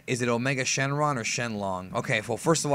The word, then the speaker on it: Shenlong: it Omega Shenron or shenlong all right I'll go through this quickly Shenron is not the correct way to say it it's not incorrect necessarily but it's not correct correct Omega Shenron is his